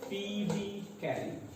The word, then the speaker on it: Phoebe Cary: Yes, it is pronounced as Phoebe Cary.